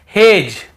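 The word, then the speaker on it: hedge: ये पढ़ रहे हैं फिर देखिए हेज और वेज यहां पर भी डी को हम नहीं पढ़ रहे हैं ब्रिज एज हेज और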